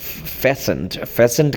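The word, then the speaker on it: fastened: फेसेंट कहते हैं, जुड़ा हुआ था, टी इसमें साइलेंट है, टू स्मॉल वुडन बॉक्स, जो एक छोटे लकड़ी के संदूक के साथ जुड़ा हुआ था।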